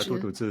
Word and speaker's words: 杜笃之: Walter Murch, or I don't know how to pronounce this guy's name. Tu Tu Chi, is it? Yeah. Oh, 杜笃之. Yeah, Tu Tu Zhi.